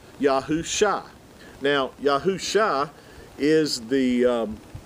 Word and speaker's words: Yahusha: ian uh together this these two letters give you the pronunciation of shah yahoo shah now yahoo shah is